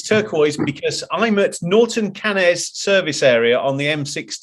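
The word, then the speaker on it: Norton Canes: And yes, it's turquoise because I'm at Norton Cannes service area on the M6 toll. Norton Keynes. They said at the reception. Keynes. I'm talking what the locals say, Chris.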